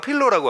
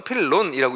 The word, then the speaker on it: 필로: 이건 필로라고 하는, 필론이라고 읽기도 하지만 필로라고 하는 유대인 철학자가 창세기에 대한 이야기를 하면서 얘기했던 내용입니다.